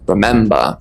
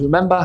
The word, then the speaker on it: remember: Both remember and remind stress the second syllable. So it's remind and remember. Remind has an I sound, remind. Whereas remember has an E sound, remember.